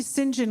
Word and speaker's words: St John: then she told me singen was an old way of pronouncing St John isn't that a boy's